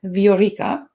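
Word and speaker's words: Viorica: in english and actually my legal name is veorica which is a romanian name and it means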